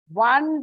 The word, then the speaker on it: one: one rupee note yeah O is a vowel it's a vowel but when you pronounce it you don't have the o sound it is more of w a one rupee note so that is why